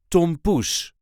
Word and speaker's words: tompoes: is how we say tomus Tom there is a light emphasis on the second part of the word Tom Tom Tom there